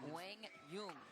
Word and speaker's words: Quang Duong: And Quang Dung. That was the proper pronunciation according to your conversation with his father.